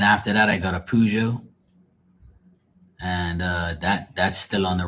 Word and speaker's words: Peugeot: No, a Peugeot, not a Cujo.